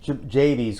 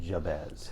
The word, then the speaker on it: Jabez: Yeah, I think JB's Corner, as we call it here in Plymouth.